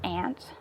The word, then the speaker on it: aunt: his aunt the aunt where i'm from we pronounce it as ant okay so we have